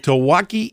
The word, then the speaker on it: Tawaki: A lot of folks gathered, a lot of excitement with pronounce it for me, the hotel. Tawaki Inn. Tawaki Inn.